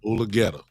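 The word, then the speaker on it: Mulugeta: So if Jerry had a problem, so quote unquote, with Dave Mulgeta, or how you pronounce his name? Mulgeta, my friend.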